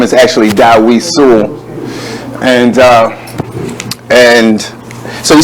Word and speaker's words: Sewell: No, actually, the last name is Sewell. Sewell.